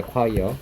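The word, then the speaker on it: choir: 해석해 볼게요 더 자 이거 초어 아니고요 초어 아닙니다이라고 읽혀요 듣기 평에서 되게 자주 나오는 단어 무슨 뜻이니 합창단이입니다 절대 알아들 수가 없겠죠 어입니다 과이어 합창단이란 뜻입니다 자 해석해 보죠 연주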